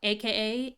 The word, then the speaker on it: Ei: Let's go hang out with Raiden Shogun, aka A. E-I, that's how you pronounce a name.